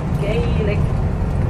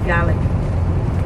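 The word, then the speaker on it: Gaelic: Irish which they pronounce GIC and the Scots which we pronounce GIC I bit like the word garlic but without the r is a good way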